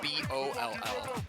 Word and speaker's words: Boll: Okay, no, it's called Sonic Boll, but like B-O-L-L. But I think they Oh, pronounce it like you bowl. Yeah, like- like you, Boll.